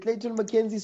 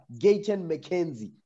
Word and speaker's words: Gayton McKenzie: Is it Clayton McKenzie? So I don't pronounce his name wrong. What? Gayton. Gayton McKenzie.